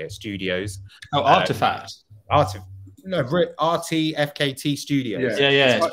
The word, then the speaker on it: RTFKT: rtfkt studios yeah yeah pronounced artifact effects but i can see what you mean because they've they've done that really cool thing where they take out all the vowels took out all the letters that made sense yeah